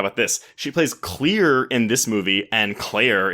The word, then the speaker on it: Clear: But they pronounce it Claire, do they not? No, they pronounce it Clear. Her name is Clear Rivers.